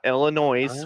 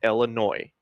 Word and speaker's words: Illinois: It's not Illinois with a hard s. It's Illinois. The S is silent.